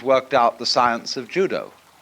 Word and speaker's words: judo: out the science of judo. Dao is the way the Japanese pronounce dao. Ju means gentle. Judo, the gentle way, whereby a strong man